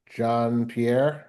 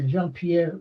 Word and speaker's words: Jean-Pierre: And the other teacher was John Pierre. Is that the right pronunciation? Yeah, Jean-Pierre Ruiz.